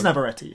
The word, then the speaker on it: Navarrete: Yeah, that's how you pronounce it. It is Navarrete.